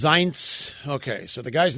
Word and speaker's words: Zients: So it's pronounced Zients.